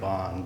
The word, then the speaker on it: Bone: i apologize so right i pronounce it bond but most people say it's a different way all right if you